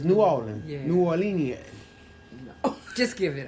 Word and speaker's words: New Orleans: how you pronounce it what norleans New Orleans no norleans norleans New Orleans it's New Orleans New Orlean just give